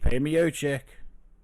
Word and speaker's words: Miocic: Miocic. Like a Mio, but then a chick at the end. Yo, it's Stipe Miocic.